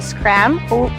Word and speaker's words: Schram: Schram.